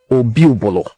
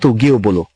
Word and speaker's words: Obi-Obolo: Obi-Obolo is his name, not Ogiobolo. Now, I will pardon them because we cannot choose for them how to pronounce our title. What we have is Obi, not Oge.